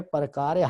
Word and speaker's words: پرکار: نقطہ پرکار حق، پرکار حق، اس کے اوپر زبر ہوتی ہے، اس کا تلفظ جو ہے پرکار حق، نقطہ پرکار حق